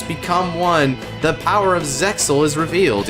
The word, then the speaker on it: Zexal: When two distant souls become one, the power of Zexal is revealed, even though it's pronounced Zael, technically.